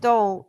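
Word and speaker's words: dhole: Uh it's pronounced dole.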